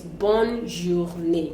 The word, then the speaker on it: bonne journée: So we may not be able to differentiate whether we're pronouncing the N or we are not pronouncing the N. But then it's bonne journée.